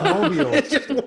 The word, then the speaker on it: Mobile: You got to say it real Southern, buddy. Mobile. That and Louisville, I can't pronounce. I just have. Louisville? It's like you say Louisville like you've got marbles in your mouth. Yeah, Louisville. So it's Mobile. One syllable. It is one.